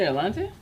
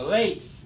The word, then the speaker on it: Elate: They're the Elante? No, Elates. It's pronounced Elate. Elante. Elate. Yes, that's awesome.